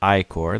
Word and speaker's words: ichor: gonna fill it with icore that's pronounced i-core he tells you um